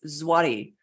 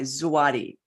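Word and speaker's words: złoty: earlier Robert describing uh pronouncing how polish it's zwati as in the uh the uh denomination of uh of the Polish zwadi z-w-o-t-y zawadi I hope I said that right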